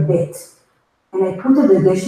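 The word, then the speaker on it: ב: What happens if I take the Daghesh out? The pronunciation now is going to be V. So fricative, you keep on saying V.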